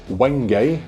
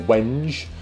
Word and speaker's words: wenge: It is a flame maple fretboard, and the neck is wenge or wenge, depending on where you're from and how you say it, and it's got lock-in tuners, and also it's got a bone nut.